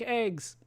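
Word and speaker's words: AGWS: anti nois weapon system like I said in the first game pronounced like eggs a piloted vehicle not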